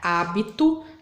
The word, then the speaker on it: hábito: Então, qual que é a sílaba mais forte? Vamos chamar o hábito? Hábito. Então, qual que ficou comprida aí? Que sílaba que ficou comprida? Então, o A, o H e o A. Então, essa vai ser a minha sílaba tônica.